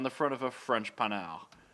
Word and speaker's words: Panhard: So we should also note that is spelled pan-hard if you're an dirty American. But it's a panel. But if you're a dirty American, you'll know pan-hard because of the pan-hard rod.